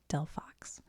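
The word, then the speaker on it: Delphox: Delox 4t 11 in 86 lb.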